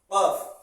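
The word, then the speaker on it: قاف: কফ, এটা হচ্ছে কফ। যেমন বক, বক উচ্চারণ করে, শব্দ করে কক কক কক কক, ঠিক এইভাবে এই হরফটা উচ্চারণ হবে কফ কফ কফ কফ কফ।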